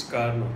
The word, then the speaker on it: Carnot: Actually see the spelling is CARNOT। Okay, but the pronunciation is कार्नो, टी is silent.